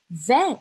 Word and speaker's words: vais: O S no final da palavra, não pronuncio. Então, fica je vé.